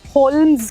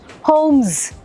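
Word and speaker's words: Holmes: series के fictional hero लेकिन लोग इन्हें शलक होलम्स कहते हैं क्यों शलक भी नहीं है शलॉक शलॉक होम्स एच ओ एल है मगर एल इज अबब्सोलुटली silent so शलॉक होम्स शलक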